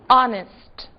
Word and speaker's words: honest: ser observadas porque justamente são casos em que o H está ali, mas não é dito. Que palavras são essas? Our, honor e honest. Não disse o H em nenhuma delas.